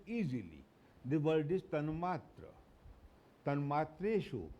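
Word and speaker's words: तन्मात्रेषु: Tanmatreshu, not tanmatrasu.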